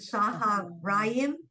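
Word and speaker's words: צהריים: with Saharayim. So you don't pronounce it as O, that it's not O. Wrist. So see, we It's learned that. Saharayim. There's no O in there.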